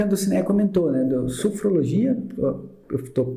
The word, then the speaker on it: sofrologia: E retomando ao ponto que a Dulcinea comentou, né, do sofrologia, eu estou pronunciando correto?